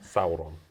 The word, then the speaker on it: Sauron: Sauron. Yeah, you see, he gets pronunciation.